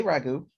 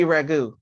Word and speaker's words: Raghu: anyway yolanda yes hey raghu rahu raghu tell me how you say it it can't be ragu that's spaghetti is ragu really i